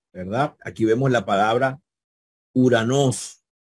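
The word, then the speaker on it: οὐρανός: vemos la palabra uranos acuérdense que aquí hay un dígrafo y ya les expliqué que el dígrafo o micron upsilon o micro se pronuncia como una u cada vez que ustedes vean esta combinación de vocales no no vean o si no vean uranos verdad Y eso significa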